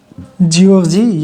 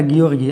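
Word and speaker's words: Giorgi: बहुत लोग इसको जियोर्जी और बहुत लोग इसको गियोर्गी पढ़ते हैं, तो इसलिए आपका जो प्रोनाउंस करना चाहे वो कर सकते हैं।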